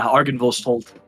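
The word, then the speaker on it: Argynvost: So in my dream, how do you even pronounce this, Mike? Argansvald? Yeah, Argansvald.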